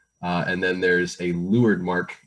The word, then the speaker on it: leeward: and then there's a lured mark it's spelled leeward but uh for some reason it's pronounced lured sailors were weird when